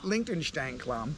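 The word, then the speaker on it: Liechtensteinklamm: I mean, she liked it so much she even added an extra syllable in the name, which is kind of hard to do in German, but it's Liechtenstein Klamm.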